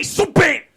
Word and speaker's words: Subban: I'm not going to say it like that. PK Subban! That's how you do it.